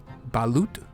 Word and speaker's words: balut: This one is called, I believe it's pronounced balut. That's the best I can do.